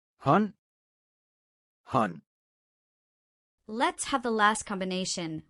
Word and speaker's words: hånd: Let's try the words with ND combination. Listen well so you will notice the silent D. Spand. Pind. Vand. Hånd.